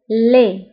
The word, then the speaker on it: laid: ضده قبيح أو laid، beau. laid، beau. يعني جميل وقبيح هي لي. دي في آخر الكلمة بالنسبة لي لا ننطقها.